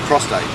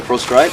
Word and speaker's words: prostate: out of your ear it's actually the prostate shitty a lot of people prostrate you know a lot of people say prostrate yeah a lot of